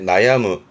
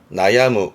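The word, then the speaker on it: 悩む: 발음이 크노 크노이 정도고요. 동사도 많이 접하죠. 그렇죠? 이게 고민하다의 나야무 나야무 고민하고 뭔가 괴로워하고 내지는 아파서 고생하는 뭐 예를 들어서 두통에 고생한다.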